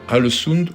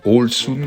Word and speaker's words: Ålesund: Ålesund ou Ålesund, comme on dit en norvégien, on a fait aussi le choix, comme à Trondheim, de prendre une aire de camping-car.